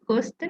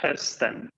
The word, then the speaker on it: hösten: ¿Cómo pronuncio? Hosten. Hösten, Ah, hösten.